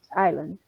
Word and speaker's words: island: Não se pronuncia o S. Não, é Island. Island.